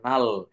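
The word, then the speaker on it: null: এল এটা নাল নাল এন ইউ এল L double L প্রথমে consonant N তারপর কি আছে ইউ তারপর কনসোনেন্ট আছে আবার এল এই যে ডাবল এল আছে এভাবে ওয়ার্ড গঠিত হলে ইউ এর উচ্চারণ আ হয়ে যায় এই যে দেখেন এখানে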